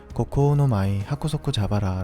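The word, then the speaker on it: 蜈蚣ノ舞百足蛇腹: 일본어로는 고코오노마이 하쿠소쿠 자바라 라고 읽습니다.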